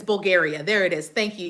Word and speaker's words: Bulgaria: It's Bulgaria.